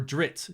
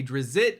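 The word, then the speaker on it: Drizzt: dritz do erden and I know if I'm triggering you with the pronunciation of that name and you say drizzit or however you pronunciate his name it's okay R.A Salvatore said you can say his name any way that makes it flow for you so I've always said dritz me and my friend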